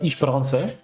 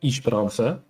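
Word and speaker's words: Esperança: We've got Ishparansa as the third map. I am slowly continuing every BPL season the pronunciation agenda of Isharansa.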